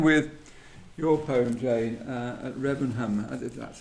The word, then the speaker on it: Remenham: So let's jump in with your poem, Jane, at Remenham. That's how you pronounce At Remenham, it. yes. Remenham.